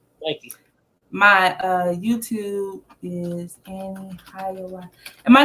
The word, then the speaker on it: AneHiawatha: My YouTube is AneHiawatha, and my name AneHiawatha. People don't know how this. It's like Annie, like the girl Annie, and yeah.